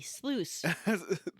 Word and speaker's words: sluice: sleep okay it's loose it rhymes with juice it's real easy sluice the once you solve